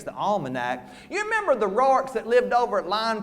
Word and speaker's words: Rourke: Them what pronounce the name Roark. Yes, they's the ones that's got money and education. These wasn't Roarks, they's just Rourkes.